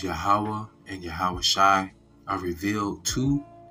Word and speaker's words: YAHAWAH: YAHAWAH is how you say Lord or Jehovah, which is not the proper pronunciation. Then it is YAHAWAH, which is the tetragrammaton, the YHWH.